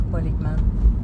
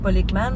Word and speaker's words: Ekman: Paul Ekman, c'est un chercheur, en fait, c'est un des pionniers dans l'étude. Comment ça s'écrit? Paul Ekman, E-K-M-A-N. E-K-M-A-N. OK. Puis Paul comme P-A-U-L.